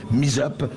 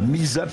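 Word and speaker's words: Mi2zup: Il suffit de taper Misap sur Google et vous nous trouvez. Voilà, Misap, ça s'écrit M-I-2-Z-U-P.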